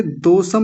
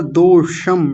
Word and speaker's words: दोषम: ठीक है और देखिए दोषम नहीं होता दोषम श का ठीक से उच्चारण होना चाहिए ये वाला दोषम दोषम